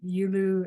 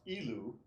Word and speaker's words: Yilu: because there's like the forms have names like Yulu and Erlu. Is that the difference between like doing it the slow, soft versus more martial? Yes, basically, yes. Okay. So ilu forms, it's pronounced ilu, Mhm.